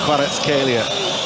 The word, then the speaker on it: Kvaratskhelia: It's pronounced Kvaratskhelia.